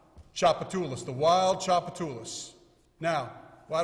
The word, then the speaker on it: Tchoupitoulas: Tchoupitoulas.